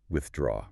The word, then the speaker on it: withdraw: The stress must be on the second syllable.